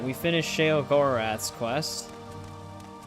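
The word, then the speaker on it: Sheogorath: We finished Sha Gorath's quest, which for some reason they they pronounced it sugar wrath in this game.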